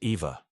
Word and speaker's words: Eve: together formed the collective known as Eve pronounced Eva these multiple embodiments of